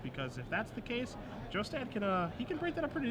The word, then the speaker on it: Jostad: Last name is pronounced Jostad, in case you are wondering.